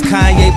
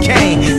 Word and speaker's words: Kanye: Now all I need is y'all to pronounce my name as Kanye, but some of my plastics still say Kane.